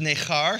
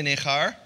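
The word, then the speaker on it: נכר: What it says in verse 3 is he says, "Let not the son of the Gentile," and the word there is nechar, say nechar.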